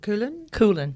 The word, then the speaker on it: Coolen: Is it pronounced Coolen? Coolen. Coolen. Yep. Coolen. It's a Dutch name.